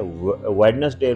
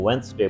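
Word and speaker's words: Wednesday: वेडनेसडे बोल रहे हैं तो वेंसडे बोलें।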